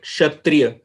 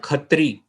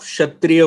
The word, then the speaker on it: Kshatriya: All these gurus were Kshatriya. They are called Khatri, but all these gurus were Kshatriya. You know, upbranch. It's a upbranch, a mispronunciation of Khatriya, Kshatriya.